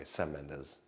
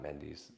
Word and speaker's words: Sam Mendes: things for SE Mendes that's how I've had his heard his name pronounced by the way s menes not mes but whatever um so